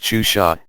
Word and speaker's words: Xuxa: Maria de Gra Meneghel, known professionally as Suxa, pronounced Xuxa, is a mega-celebrity in the eyes of the preteen set, not only in Brazil but throughout Latin America.